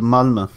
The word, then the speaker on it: Malmö: Have you ever heard a place called Malmö?